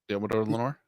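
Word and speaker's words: Deommodore Lenoir: I can't always mispronounce his name. Diamador Lenore. Diamador Lenore.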